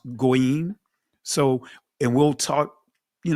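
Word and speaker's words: goyim: GWayam in the Israeli tongue is pronounced goim.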